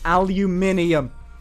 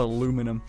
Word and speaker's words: aluminium: head it's aluminium i don't ow it's not aluminum aluminium i mean it's it's